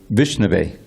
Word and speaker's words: Vishnave: And this verse says that the fool, he says Vishnu, Vishnaya. And the learned man, he dresses as Vishnave, because it's an exception.